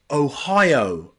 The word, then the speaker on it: Ohio: Okay biology and priority another way to pronounce this number two is IO in place names like Ohio Ohio he's from Ohio she's from Ohio which is a state in the USA Ohio Ohio okay number three